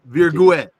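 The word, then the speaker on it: Virgüez: My brother Virguez. Did I get it right? Yep, perfectly. because you see these two dots on the U, it means that you have to pronounce it exactly. Virguez.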